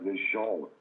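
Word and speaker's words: LeJuan: You spell it L-E-J-U-A-N. It's pronounced LeJean.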